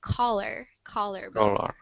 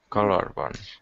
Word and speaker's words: collarbone: And this collarbone, it has these two L's, which I know in Spanish it's pronounced kind of like a Y, but yeah, we pronounce it like collarbone. Collarbone.